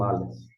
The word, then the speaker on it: Aleph: O Aleph não tem som em nossa língua portuguesa. Não tem nenhum som correspondente. Seria uma consoante muda, que nem o H na palavra homem em português.